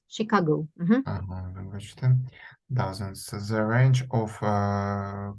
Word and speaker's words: Chicago: and Boston boasted dozens CH is pronounced as Chicago so the range of